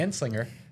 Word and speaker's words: Anslinger: 1937 uh Henry J anslinger I'm going to pronounce it right this time Henry J and Slinger banned it because he was so racist against